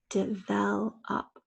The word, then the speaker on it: develop: two two challenging words develop two fell up that's a schwa right this is a schwa spelled with an O in this case difficult we're going to